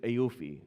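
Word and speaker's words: AAOIFI: by the central bank of Bahrain which is AUI is how it's pronounced but it stands for the accounting and auditing organization for Islamic financial institutions.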